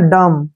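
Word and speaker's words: dumb: है इसको पढ़ेंगे हम डी यू एम ठीक है ना डम क्या पढ़ेंगे डम डम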